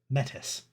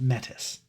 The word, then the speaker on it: metis: Even though it's supposed to be pronounced another way, I pronounce it metis. Lots of other people who enjoy role playing in werewolf pronounce it metis because we understand that they named this something that they shouldn't have named this back then.